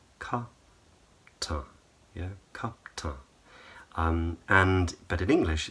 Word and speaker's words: kaptan: And she revealed that in Turkish, it's spelt K-A-P-T-A-N. So the C at the beginning is a K, the A-I is just an A in the second syllable, and then there's an N at the end. But in Turkish, she would say kaptan, kaptan.